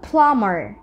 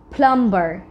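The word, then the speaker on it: plumber: তারপর আছে আমাদের জন্য প্লামার নট প্লাম্বার এটা অনেক কমন একটা ভুল যেটাকে অনেকেই প্লাম্বার বলে বাট এটা আসলে প্লাম্বার না আমাদেরকে বলতে হবে প্লামার দেন উই হ্যাভ সটেল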